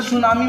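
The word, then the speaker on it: tsunami: जैसे सुनामी में T silent है तो वो एक जापानीज वर्ड है, साइकोलॉजी में पी साइलेंट है तो वो एक ग्रीक वर्ड है।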